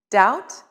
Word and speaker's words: doubt: stir in some words there are silent letters let's look at some words with silent letters b doubt and debt h chemist and chaos